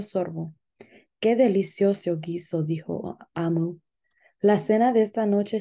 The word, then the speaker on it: Omu: Amu, pronunciado Amu, es la palabra para reina en Igbo.